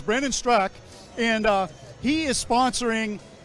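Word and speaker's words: Brandon Straka: The A is silent. So it's Brandon Strak.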